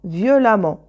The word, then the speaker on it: violemment: non voilà violent violemment on garde violent ce sont des objectifs qui se termine pas ent alors on garde le radical eux on ajoute 2ème mais c'est à dire et on prononce à deux consonnes et on prononce à violent violemment regardez bien ent tous